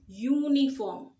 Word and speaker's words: uniform: here we say always uniform so we are saying u like y u y u okay u so it's